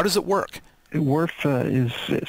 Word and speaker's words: WRF: to start what is worf how does it work worf is is how we pronounce the acronym wrf and these letters stand